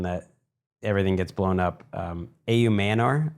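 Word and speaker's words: Ayomanor: A.U. Manor, that's what we settled on for pronunciation.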